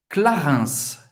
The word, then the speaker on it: Clarins: Clarins. Clarins. IN tem o som do 1. Clarins. Você vai pronunciar o S no final.